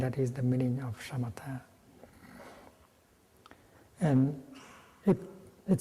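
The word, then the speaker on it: śamatha: with your body and buddhist term for for stopping is a shamatha in bali somewhat with this you pronounce like and the first meaning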